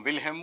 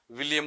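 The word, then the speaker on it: Wilhelm: जिनसे साइकोलॉजी पढ़ते हो वो इसको विल्हेम बोल पाते हैं कि नहीं बोल पाते। विलियम बोलते हैं तो पता लगा लेना कि साहब हटा लेना वहां से अपना खेल सारा कारोबार।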